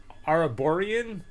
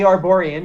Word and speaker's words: Arborian: to say it wrong the uh araborian yeah the arborian yeah i'll show i'll